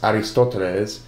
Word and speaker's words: Ἀριστοτέλης: Aristotle, whose name in Greek is pronounced Aristoteles, dates to around the years 384 to 322 BC.